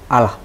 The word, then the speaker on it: Allah: a h bacanya Ayah kalau ayy aha bacanya sekarang bacanya biasa Allah Allah baik sekarang kalau Alla ada tekanan kan Allah Jesus menyebut Tuhannya Allah